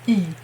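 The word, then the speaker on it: 이: Okay, if it's your choice that you are saying it like, you know you should say it like E, but you just prefer Lee, then okay, I can handle it, okay?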